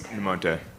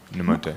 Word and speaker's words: Nemonte: This is actually a question for Alex Goff, and I don't know how to pronounce her name. Is it Kay? Yes. Namonte. Nemonte.